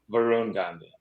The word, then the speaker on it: Varun Gandhi: I should have actually asked you the pronunciation. So Dr. Varun Gandhi, did I say that correctly? Varun Gandhi.